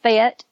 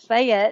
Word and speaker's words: Fayette: town called fat Alabama if you're from there you call it fat it's a one syllable but if everybody else calls it Fayette yes it's a two syllable word it's North West Alabama